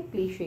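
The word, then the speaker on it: cliché: ये सब किसके वो है, किसके सिनोनिम्स है, क्लीशे के, है ना, बोर्डम। पर इम्पॉर्टेंट है यहाँ पे स्पेलिंग, CLICHE, जैसे कि आप इसको कैसे साउंड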